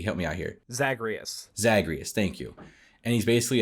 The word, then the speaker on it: Zagreus: that like the character of hades is named zagreg i can't pronounce his name davey help me out here zacharias zagreus thank you and he's basically a son of